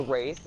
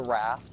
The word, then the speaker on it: Wraith: Wraith, or the Wrath, because people pronounce it differently, Mm-hmm.